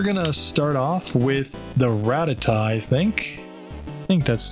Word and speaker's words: Rattata: ratata up ratata Rattata how do you say it in the anime they say Rattata if you listen to my dry bread he says ratata Okay so we're